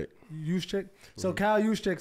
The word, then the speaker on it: Juszczyk: Juszczyk.